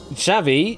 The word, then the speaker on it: Xavi: Was Xavi, yeah. Oh, pronounced it right first time.